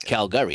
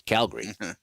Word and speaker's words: Calgary: It's not Calgary. It's Calgary.